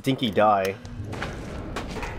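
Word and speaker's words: dinky-di: dinky DS pronounced a dinky die like that's the Australian pronunciation scrap is automatically collected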